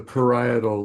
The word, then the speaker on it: parietal: Um, it's pronounced the parietal lobe.